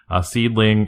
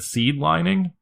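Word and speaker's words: Seadlinnng: what ladies Japanese wrestling seedling is spelled real weird it's spelled like se a DDD l and ng or something like that and for the longest time I thought it said seed lining and I didn't know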